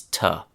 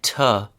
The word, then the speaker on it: to: That word is to, like need to do something or like to do something. Its real-world pronunciation is tuh. 3 quick examples. 1. Let's go to the park. 2. I'm going to the store. 3rd and last, she went to Paris last summer. So, to uses that tuh pronunciation, especially when it's part